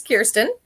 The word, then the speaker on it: Kirsten: Well, my name's Kirsten, and yay, you said it right.